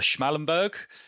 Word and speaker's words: Schmallenberg: And I guess a relatively newer one on, I'm probably going to get the pronunciation wrong here, on the Schmallenberg.